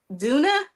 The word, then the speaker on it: Duna: her um to the stage is your name pronounced Duna yes correct Hi how are you how are